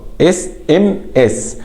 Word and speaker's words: SMS: SMS. طيب SMS اس انا بنطق الاي SMS ماليش دعوه بالباقي.